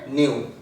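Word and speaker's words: ν: ফ্রিকোয়েন্সিকে আমরা কিন্তু যেভাবে স্টাডি করি সেটাকে বলা হয় নিউ, নট NEW, নিউ। ফ্রিকোয়েন্সিকে study করা হয় এই চিহ্নটা দিয়ে, আর এটার প্রোনাউন্সিয়েশন হচ্ছে NU, নিউ।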